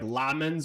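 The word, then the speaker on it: Lammens: Also, I know I'm pretty sure it's pronounced like Lamens or whatever, but I've called him Lemens from the very beginning, and like I can't change it now.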